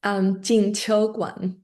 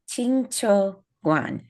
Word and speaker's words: Jingqiu Guan: It's Jingqiu Guan. Jingqiu Guan.